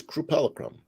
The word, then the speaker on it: crupelicum: and the word is crupelicum, and it's a 3-syllable word. Cru as in crucifix, meaning to torture. Pelle, Italian for skin, and chrome, Greek for color.